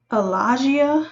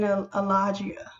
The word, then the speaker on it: Allagia: The top font is, the script is Allagia, and let me spell that just in case I'm mispronouncing it.